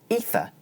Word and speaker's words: ether: In the word 'ether' the vowel is followed by the unvoiced consonant /θ/ and so it's pronounced short.